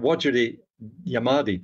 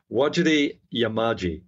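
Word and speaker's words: Wajarri Yamaji: kilometer array Personnel uh I did mispronounce that actually because there's there's when you see it written what you pronounce is slightly different it is waji yamaji that's the correct pronunciation some of the Aboriginal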